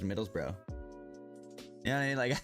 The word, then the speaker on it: Middlesbrough: That that those are the way you the way you guys pronounce certain words like burrow bro. Like middles bro. Take off the g uh ug and it's just middles bro.